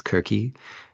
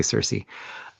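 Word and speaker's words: Circe: Um for anyone who's European, I know um the European pronunciation is kirky. Uh but in I don't know as a as an American, we we all say Cersei.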